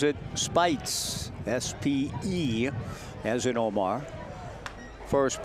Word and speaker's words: Speights: Spells his name as Omar, but pronounces it Spites, S-P-E, as in Omar.